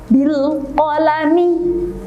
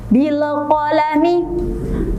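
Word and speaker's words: بالقلم: Bilqalami. Silakan ditirukan. Bilqalami. Bagus. Itu adalah cara membacanya. Sedangkan jika dibaca dengan tawalud contohnya seperti ini. Bilqalami. Bilqalami. Tidak boleh ada pantulan di situ. Akan tetapi harus dengan jelas.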